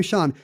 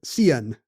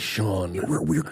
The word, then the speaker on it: Sean: Her husband's name Sean. She pronounces it Cian.